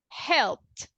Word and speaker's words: helped: second rule all right helped everybody do you agree yes yes do we have vibration with the p sound not right no vibration so we will say helped helped pretty good okay who's